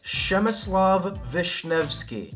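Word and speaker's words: Przemysław Wiśniewski: I had to look it up because that is one that, based on the letters, does not look like how it sounds. It's Przemysław Wisniewski. And Przemysław Wisniewski is an absolute tank.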